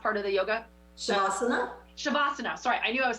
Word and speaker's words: Shavasana: Savannah, what? No. You know when you do the meditative part of the yoga after? What's the last part of the yoga? Shavasana? Shavasana, sorry, I knew I was saying that wrong.